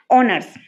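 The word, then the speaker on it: honours: এইচ টা silent থাকবে এইচ টা কিছু কিছু ওয়ার্ডের মধ্যে এইচ টা সাইলেন্ট থাকবে আর ওই পার্টিকুলার ওয়ার্ডটা যখন আমরা প্রোনাউন্স করবো উচ্চারণ করব তখন সেটা ভাওয়েল সাউন্ড হবে যেরকম আওয়ার অনেস্ট এয়ার তারপর রয়েছে যেরকম অনার্স তো এটার আগে আমরা কি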